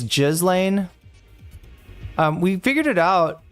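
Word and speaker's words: Ghislaine: Now, in French, this is normally pronounced. Jishlen is how it wait what you pronounce the s would be said in France.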